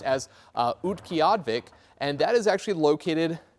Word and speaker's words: Utqiagvik: And so this town, this is actually pronounced as Utqiagvik, and that is actually located near and just north of the Arctic Circle.